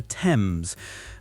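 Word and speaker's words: Thames: I learned the hard way that some famous place names aren't pronounced the way they look.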